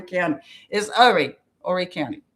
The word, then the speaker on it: Horry: And by the way, it's ORE, not the not the WHOREY. It sounds like people are saying all the time. Horry County is Horry County. The H is silent.